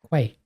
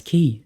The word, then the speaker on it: quay: They taught me how to pronounce the letters, and yet Quay is key and not quay.